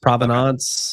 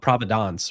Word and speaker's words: Provenance: So I think as long as you don't call it Providence, which is a totally different word, and some people have done that, you're good, man.